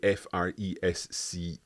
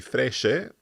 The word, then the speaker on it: fresche: We can't say Fresce because that would be fresche. So we need to make it fresche with an H in there. So rose fresche per.